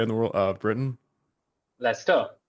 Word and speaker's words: Leicester: What's the pronunciation of that British term of that area in the world of Britain? Lester. Leicester.